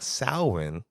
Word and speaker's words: Samhain: the characters says uh sawin and I was like I heard that before all Hall's Eve but then when I researched it even though it's it's pronounced sawin it it's spelled out